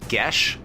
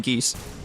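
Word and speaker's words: Geas: the honks so honks so it is actually pronounced GES uh go ahead and describe what GES does you mean geese uh I play a magical command on a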